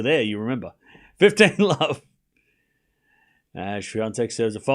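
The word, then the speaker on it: Świątek: So, like we watched the first match and I was like, swatch, hey, idiot, you're saying it wrong. Oh, okay. And then now Shante.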